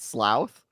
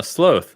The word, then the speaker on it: sloth: Sloath is not slouth. Oh, sloth. Like cloak. You wouldn't say clouk. It's cloak.